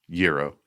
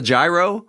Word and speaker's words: gyro: It's not a gyro. No. No. That gyro is a gyroscope. There you go. Um that's that's more science than food. But stop and go. And if you want to say it in the Greek way, yo.